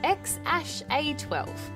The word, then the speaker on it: X Æ A-Xii: It's pronounced X Æ A-Xii, for the record.